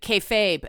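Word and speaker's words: kayfabe: And thank you, the person who said K like okay, Fabe as in babe, K-Fabe.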